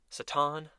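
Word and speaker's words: Satan: the ticket being s a t an obviously pronounced saton and that's Santa slle there's even some bloopers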